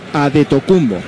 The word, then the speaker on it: Antetokounmpo: Antetokounmpo es como se escribe en griego, pero en griego se lee Adetokounmpo.